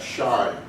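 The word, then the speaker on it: sinh: in a hyperbolic function we call that shine it is spelled s-i-n-h but it's shine instead of solid and if this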